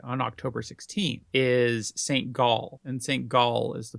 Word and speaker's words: Gall: Gall. It's Gall with an A. Oh, that's sad. I just like the way you pronounce it, though, and we can just pretend it's St. Gull.